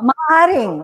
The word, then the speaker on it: maaaring: Maaring is a Tagalog word. So you say it in the proper Tagalog pronunciation. Huwag mong gawing maaring. Tigasan mo yung R mo.